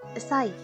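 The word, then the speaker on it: 歳: Este kanji de acá se lee sai.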